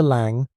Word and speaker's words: Lang: It was 10 days since Reginal Harrove's murder shook the Met, and though Victor Lang, pronunciation lang, rhymes with song, Eddie Malone, and Claraara